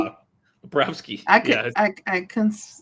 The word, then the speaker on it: Bobrovsky: that's why we don't pronounce Bob's full name for the Florida Panthers. We just Bobrovsky? call him Bob. Bobrovsky.